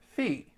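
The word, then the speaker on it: φ: you have the Greek letter Phi they actually pronounced it fee and when you have the Greek letter Sai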